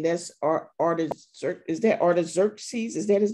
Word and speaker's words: Artaxerxes: i'm not mistaken that's our artist is that artaxerxes is that his name i think i'm saying